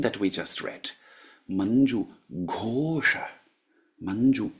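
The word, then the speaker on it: घोष: Manju Ghosha. Manju Ghosha, not Gosha. Yeah, so if we look at the verse that I chanted for you, Manju Ghosham. Ghosham. Not Gosham, but Ghosham.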